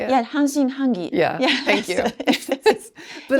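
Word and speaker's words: 半信半疑: Yeah, hanshin hangi.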